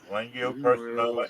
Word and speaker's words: cholangiocarcinoma: Oh, thank you, Big T, because I can't pronounce that. Cholanglio. Cholangiocarcinoma and adenocarcinoma.